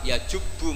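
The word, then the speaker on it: يجبّ: Terus Nabi ngentikan, "Alislamu yajubbu ma qoblah." itu bacanya bukan yajibu tapi apa yajubbu yaq lah kalau pas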